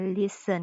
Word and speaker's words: listen: อ ที่ 2 อ่ า น ว่ า listen เ ป็ น ห ยั ง บ่ อ่